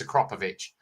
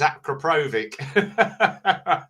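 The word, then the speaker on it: Akrapovič: It's called Acropovich is the correct spelling of it. So, if you Google it, have a look, and it'll tell you the correct way to say it. It's Acropovich. But everyone says Acropovvic.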